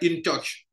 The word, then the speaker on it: InTouch: Il y a une grande structure qui traite avec les compagnies de téléphone mobile qu'on appelle InTouch. InTouch. InTouch, bon, en anglais, on dirait InTouch.